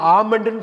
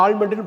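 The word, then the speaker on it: almond: என்ன தெரியுங்களா, பாதாம் எப்படி சொல்லுவீங்க, ஏஎல்எம்ஓஎன்டியை ஆமண்டுன்னு சொல்லுங்கள். எள்ளு கட் பண்ணிடணும், எள்ளு வந்து உச்சரிக்கக்கூடாது, ஆமண்ட். நீங்கள் நிறைய பேர் இப்போ டெய்லி யூஸ் பண்ண ஆரம்பிச்சிட்டிங்க. ஆமண்ட், ஏஎல்எம்ஓஎன்டியை எல் சைலண்ட், ஆமண்டுன்னு படிக்கணும். ஆல்மண்டுன்னு படிச்சிடக்கூடாது, ஆமண்டு தான் சரியான உச்சரிப்பு.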